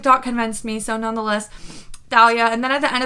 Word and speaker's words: Thalia: how it is pronounced Thalia because the name if you spell it in Greek it starts with a Theta and the Theta makes the sound so it is Thalia not Talia so uh that Tik